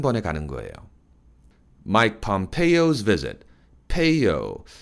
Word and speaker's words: Pompeo: Mike Pompeo's visit, Peo, 철자는 EO로 되어 있지만 발음은 Peo, AO 발음을 합니다.